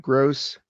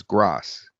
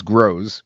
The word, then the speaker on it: Gross: Hey gang, this is Gross. Now, sometimes it gets my name wrong and it says Gross. So I'll write gross like that, which sometimes it pronounces grows, but it's closer.